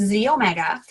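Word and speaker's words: xEO Mega: It's XE omega, pronounced Z omega.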